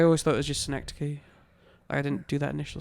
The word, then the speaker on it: Schenectady: And then I'll show them the name of the town that I'm from, Schenectady. It does not look like how it is pronounced.